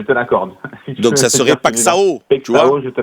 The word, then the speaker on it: Paixão: Tu vois, la paille et le champ, tu vois, Paixão. Mais ça s'écrit pas comme ça s'écrit Paixão, non? Oui, mais le X se dit che. Le X se dit che et le AO se dit un.